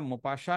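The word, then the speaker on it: Maupassant: Rene Albert গিদা মপাস তো জানো মোপাসা মোপাসার বানান আলাদা আছে এম এ ইউপি এস এস এ এনটি বানান আর উচ্চারণ একটু আলাদা আছে তো হেনরি রেনে হেনরি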